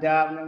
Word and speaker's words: dove: Tức là phát âm dove, một số người ta quảng cáo, ta đọc là đô ấy, giống như cái xà bông gì đấy đúng không?